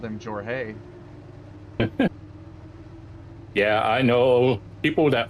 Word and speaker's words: Jorge: I was like, they've called him George Horge and but they've never called him Jorge.